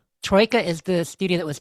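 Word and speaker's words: Troika: So Rey, you said Tro, didn't you when we were talking about it last week, and I thought it was Troya, but but yeah, I've heard people say both.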